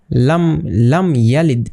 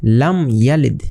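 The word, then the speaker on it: لم يلد: এটাকে বা এবং মিম এই দুইটা হরফ ব্যতীত যদি অন্য কোনো হরফ চলে আসে তাহলে কিন্তু এখানে গুণনা ছাড়া একদম স্পষ্ট করে পড়তে হবে।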